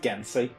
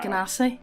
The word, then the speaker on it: Genasi: Why would they pronounce it Gensi whenever there's an A in it? Gensi, I don't know. Genasi? Genasi, it is Genasi.